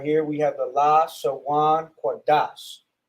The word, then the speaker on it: Lashawan Qadash: in the English, this is how you would pronounce it: Lashawan Qadash.